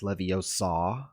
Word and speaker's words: Leviosa: Isn't it pronounced Leviosa?